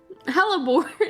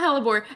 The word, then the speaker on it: Hellaore: Hellaore. Not Haore.